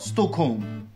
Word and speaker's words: Stockholm: l'on applique cette règle, le L ne se prononce pas lorsque suivi du son K, comme par exemple dans folk ou encore yoke, ou aussi du son M, comme par exemple dans Holmes ou encore Stockholm.